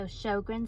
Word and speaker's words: Sjögren: It's SJ O gre and it's pronounced show like a movie going to the show and then grin like I have a grin on my face. So, Shogrin syndrome and it's an autoimmune disease.